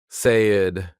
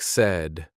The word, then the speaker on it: said: Notice the tricky sound. Not say-ed. It sounds like said.